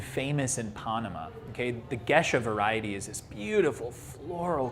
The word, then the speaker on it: Gesha: pushed everything was the gesha okay um often mispronounced geisha and it is not